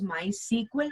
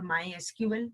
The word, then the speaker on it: MySQL: by a swedish company it is pronounced as my sequel or mysql the way you are comfortable with it is uh my sequel